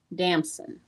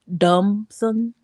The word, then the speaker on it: Damson: Dumson.